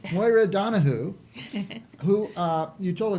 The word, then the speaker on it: Donohoe: name correctly right yeah I always said Donahoe and my children said accused me that I never pronounced at Donahue until we went to Ireland yeah yeah but did